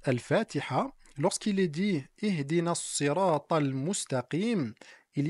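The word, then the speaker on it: الصراط: Dans la sourate Al-Fatiha, lorsqu'il est dit Ihdina as-sirata al-mustaqim, il y a en réalité trois possibilités qui nous sont parvenues. As-sirata avec un sad, as-sirata avec un sin et enfin az-zirata avec un zay.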